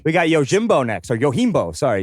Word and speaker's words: Yojimbo: your gym so thank you for that it's yo Keem bow 1961 directed by Akira Kurosawa a crafty Ronin